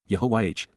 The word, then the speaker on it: Yahowah: Yahowah, Yahowah, God's personal and proper name, pronounced, Yehovah, based upon Haya, to exist and Torah, to guide,